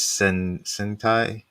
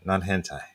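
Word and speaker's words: 戦隊: And then sentai, the kanji is sentai, not hentai.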